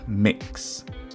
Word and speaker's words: Mx: non-gendered titles such as MX which is pronounced mix rather than Mr slash Mrs